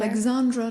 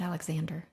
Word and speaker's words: Alexandra: Alexandra. Did I say it wrong? You said Alexander.